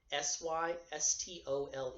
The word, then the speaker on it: systole: rhythm when it contracts is called systole sy s T o le you pronounce every part of the word systole that is the contraction